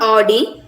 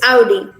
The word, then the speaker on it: Audi: od but here the characterization is audi it's not audi it's audi this one the main